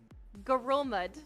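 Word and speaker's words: Ngerulmud: Pronunciation. Okay, I got it. Alright, so the next question is... Gorulmud is the world's least populated capital city.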